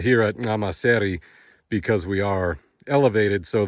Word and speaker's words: Nxamaseri: Today it is mid-80s here at Nxamaseri Lodge, and the a correct way to say Nxamaseri is with that click of the tongue at the front.